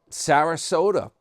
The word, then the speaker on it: Sarasota: Um, Sarasota rhymes with Yoda or toy Yoda.